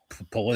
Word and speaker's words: Pulisic: much anyone from Europe, call him Christian Pulisic. They put a CH at the end, but here it's pronounced Pulisic.